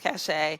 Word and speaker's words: Causha: So for those that don't know, my name is Causha. It's pronounced Causha.